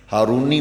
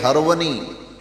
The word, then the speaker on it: ہرونی: ہارونی کہا جاتا ہے، ہارونی مشہور ہو گیا، خواجہ عثمان ہارونی، آپ جس گاؤں کے رہنے والے تھے اس گاؤں کا نام ہرون تھا، اس لیے خواجہ عثمان ہرونی یہ صحیح تلفظ ہے۔ یہ پڑھتے پڑھاتے لوگ